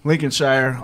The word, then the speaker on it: Lincolnshire: getting the wonderful opportunity to hang out in Lincolnshire I say it right yes Lincolnshire um we're at the main station and we're